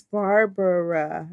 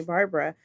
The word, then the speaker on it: Barbara: You know, my name is Barbara. It's 3 syllables, but everybody calls me Barbara.